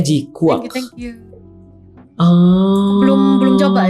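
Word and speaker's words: GQuuuuuuX: Nah, itu G-Cooks. G-Cooks. Ya, sorry. G-Quack. G-Quack. G-Cook. Bacanya G-Quack.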